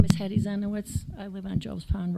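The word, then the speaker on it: Hedi Zienowicz: My name is Hetty Zenowitz. I live on Joe's Pond Road. Can you spell that for me?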